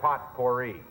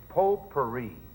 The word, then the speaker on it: potpourri: Well, in the first place, it's not potpourri. It isn't pronounced potpourri? No, it's not potpourri. It's potpourri. Well, the heck with it.